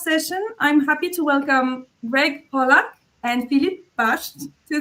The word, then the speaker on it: Grzegorz: I'm Greg, as Kenzo said, or Grzegorz, if you understand Polish and like to pronounce some tongue twisters.